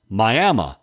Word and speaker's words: Miami: Today, we visit a local cemetery in Miami, Oklahoma, pronounced Miami, where 15 British Royal